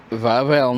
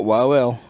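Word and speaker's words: Wawel: So after a bit of googling um the castle is pronounced vavl not wav.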